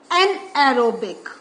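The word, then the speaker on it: anaerobic: एंड एना एरोबिक तो please learn how to speak out एरोबिक एन एरोबिक बस आपका इन दोनों में क्या करना है इसमें आपको एक एन प्रोनाउंस करना है फिर एरोबिक आ ही जाएगा एन एरोबिक तो दिस मींस जो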